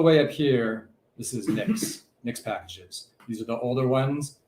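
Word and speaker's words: Nixpkgs: It's called Nix Packages. It's pronounced Nix Packages, looks like that.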